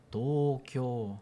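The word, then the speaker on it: 東京: Tókio é você falar Tóquio no português, dentro da frase português, ele acaba puxando a tendência do português. Então, não que não se entenda que é Tóquio, se refere a Tókio, mas se você quiser pronunciar o japonês corretamente, como os japoneses pronunciam, teria que ser Tóquio dentro da frase japonesa.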